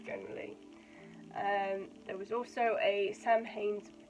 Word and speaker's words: Samhain: If I don't think before I speak, so I read it Samhain. It's actually Samhain, because it's pronounced differently.